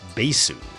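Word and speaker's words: バース: line, had the name changed to this symbol, pronounced Basu.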